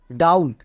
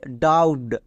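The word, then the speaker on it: doubt: ডি ও ইউ বিটি ডাউট একে অনেকে ভুল উচ্চারণ করে বলে ডাউটড মানে বি এর উচ্চারণ করে বাট বি এর উচ্চারণ এখানে হবে না একই রকম ভাবে অবটেন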